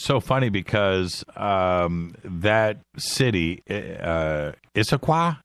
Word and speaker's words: Issaquah: And it's so funny because that city, Issaquah, is that how you say it? Yeah.